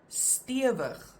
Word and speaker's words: stewig: These words that we're going to look at now, the examples, they have always been written with only one vowel, and you always pronounce them as a langklank.